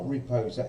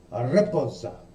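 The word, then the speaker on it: raposa: It's not riposa, it's a riposa. You've got to put some accent to it.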